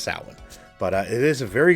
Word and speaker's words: Samhain: well but it's that most people might say samhain but it's actually pronounced salad but it is a very good film i